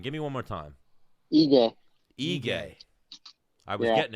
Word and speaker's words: Ige: So Kevin Aguilar, if Kevin Aguilar doesn't accept that fight, when are we seeing Dan Ige? How do you pronounce it again? Give me one more time. Ige.